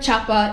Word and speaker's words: Chapa: I am here with a very special guest, Chapa. Is that how I pronounce your last name?